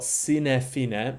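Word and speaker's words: sine fine: and then you've got sinefine meaning with a long I there sinefine meaning Without End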